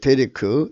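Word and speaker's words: דֶּרֶךְ: 생각하는 겁니다 예 생명의 길입니다 으 음력으로 이제 데 리크 데렉 그 벨의 큽니다 대 래 발음은 대략 입니다 이 함께 간다는 길 함께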